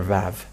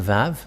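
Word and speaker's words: ו: The Vav. And this is the letter Vav. This is the Vav. The way to read this is V as in Vag. So V, that is how it is read.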